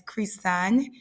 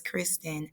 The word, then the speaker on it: Kristann: have three nephews um my name is actually pronounced as Christian in the Jamaican accent but in American accent it is pronounced as Kristen I actually received my